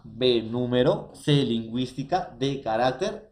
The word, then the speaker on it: carácter: debe excluir la palabra carácter porque música no es una palabra esdrújula así como sílaba así como número así como lingüística así como cardiólogo entonces carácter profesores en este caso sería un grave y ya no el